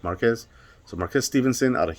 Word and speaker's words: Marquez: of marquez or marquez i'd say marquez because i'm spanish and it's pronounced spelled m-a-r-q-u-e-z like marquez so marquez stevenson out